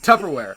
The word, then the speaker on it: Tupperware: He's like, "No, first word, first syllable." He's like, "Tub." He's like, "No, baby." He's like, "You're throwing bees at me. It's peas. Tupperware."